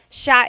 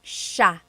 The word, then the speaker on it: siya: And another tip just about pronunciation, it's sha, sha. The S-I-Y combination makes that sha, sha sound.